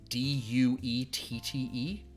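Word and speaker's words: Duette: D-U-E-T-T-E? Duet. It sounds pretty. I get it. All right. But it's pronounced. I believe in the local tongue though, it's pronounced Duet.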